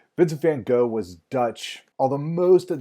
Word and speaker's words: Vincent van Gogh: Vincent van Gogh is the correct way to pronounce his name, and here's where I'm just going to apologize. I grew up learning his name as being Vincent van Gogh, and that's just what comes out when I